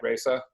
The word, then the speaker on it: Raza: staglin have recently launched raza uh a new brand i hope i'm pronouncing that right frederick is that is that right raisa uh that's how we pronounce it in this country yes okay perfect so